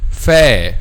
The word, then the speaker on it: ف: So, letter fa. When we pronounce letter fa, the back of the tongue is not raised.